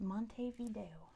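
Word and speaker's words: Montevideo: we spell that right Monty and then video how you would say it but it's pronounced Monte Vio Monte Vio all right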